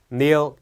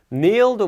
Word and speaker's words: kneel: 이게 K가 있기는 한데 K가 있다고 해서 발음이 kneel 이렇게 되는 건 아니고요. K가 묵음이 되기 때문에 kneel이 되는데 제가 여기 괄호를 표시해 놨죠. kneel down이라고 하는 게 무릎 꿇다.